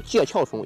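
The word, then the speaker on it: 介壳虫: 它多音字，在我们行业里面叫念壳，好吧？就像地壳，不念地壳。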